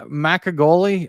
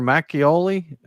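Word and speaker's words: 막걸리: Uh macagoli, I think, or macioli. That's uh I think that's as close as I can get.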